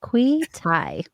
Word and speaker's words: Kweethai: And my name is pronounced as Kwe with a long E, tie around your neck. Beautiful. Kweethai.